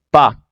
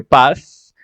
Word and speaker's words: pas: segunda negación que sería pa cierto se escribe paz pero pues la s no se pronuncia se dice solo pa listo y bueno al